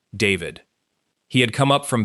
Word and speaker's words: D4vd: the stage name D4VD, spelled with a four and a V and pronounced simply David.